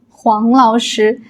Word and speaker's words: 黄老师: You can call me like Huang Laoshi and don't pronounce it wrong because Wang Laoshi and Huang Laoshi they are different.